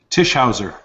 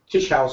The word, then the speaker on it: Tischauser: Tisher. Tisher.